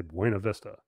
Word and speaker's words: Buena Vista: to mispronounce it intentionally anybody that took Spanish in third grade is going to say bu a Vista would you have pronounced